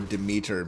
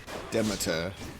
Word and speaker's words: Demeter: Closer, it would be closer to the Greek.